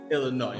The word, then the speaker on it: Illinois: over and say hey the S is silent okay it's just Chicago Illinois okay so that's the